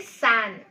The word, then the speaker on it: San: My friend San. Now, it is very, very easy to remember this name. How? Because it rhymes with Anne.